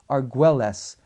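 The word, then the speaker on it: Argüelles: Argues, we would pronounce it Argules. But Archbishop Raymond Arguelis, you can address it to Lipa Li Pa, Philippines.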